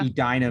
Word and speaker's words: Edina: Team 1816 the green machine from is it a dino I always pronounce this wrong Edina Minnesota Edina Minnesota it's like you never know what the